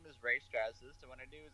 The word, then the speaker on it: Strazdas: It is Strazdas, but you're pretty close, a lot closer than a lot of other people.